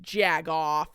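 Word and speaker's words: jagoff: But you have to say it like there's a G in it, so you're like jag off.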